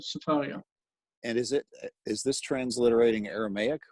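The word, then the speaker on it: Sefaria: Sfaria? Yeah, it's the name of a site, so it has its own pronunciation, but Safaria.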